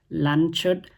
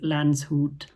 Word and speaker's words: Landshut: So, I would like to correct my pronunciation on the video. The city's name is not Lanchut, but it is Lance Hoot.